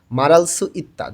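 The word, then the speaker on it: 말할 수 있다: রিউল বাচ্চিমের পরে যখন হিউত থাকে তখন রয়ের উচ্চারণটা জোরে হয়, হয়ের উচ্চারণটা হয় না বললেই চলে। এই কারণে উচ্চারণটা হয়ে যায় মারালসু ইত্তা, যখন দ্রুত উচ্চারণ করব তখন।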